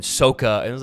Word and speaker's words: Sokka: they just changed everything they changed weird pronunciation things in the show the kid's name is eng but in the in the movie it was ong and it was saka in the show and sokka and it was like